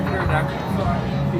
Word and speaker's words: pterodactyl: Why can't you hear a pterodactyl? Because the P is silent.